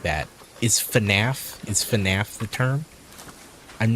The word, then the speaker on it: FNAF: Is FNAF the term? I'm not aware of the lingo. I'm saying it right? Okay. Okay, FNAF.